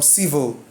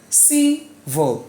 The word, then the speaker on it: civil: Which syllable has the stress in civil? Civil. Civil? No. Civil. It's a triangle, yes. Going up before going down. So the stress is on the first syllable.